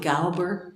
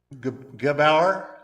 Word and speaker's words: Gebauer: Yeah, Pat, is it Galber, that group? Or I'm not saying it right, I'm sure. Gebauer.